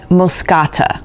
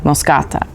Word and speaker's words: moschata: you say it, and Moscata, which has an SCH like in school, or bruschetta. It's pronounced the same way, Moscata.